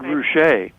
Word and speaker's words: Ruscha: Is it Rushka? Edward Rushka? Is that how you spell it? Ed Ruscha.